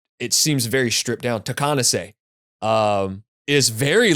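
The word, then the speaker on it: Takeahnase: The tribe where the word Takanasi, how do you pronounce that word? Is it Takanasi? Dylan, do you know? So Takanase, because Scott repeatedly says it, in the album Okay.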